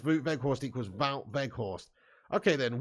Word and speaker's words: Wout Weghorst: Neil Duffin says, Wout Weghorst equals Wout Weghorst. Okay, then. Wout Weghorst. What do you mean? That's the correct pronunciation, is it, Neil?